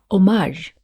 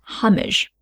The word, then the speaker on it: homage: One is homage, the stress is on the second syllable, and the other way is homage or homage.